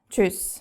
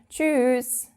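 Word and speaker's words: tschüss: you would amongst friends you would say cho but we actually pronounce it a bit longer we tend to say choose I don't know why that is it might sound a bit weird but yeah that's just what we do then of course we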